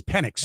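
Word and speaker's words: Penix: No, it's Pennix.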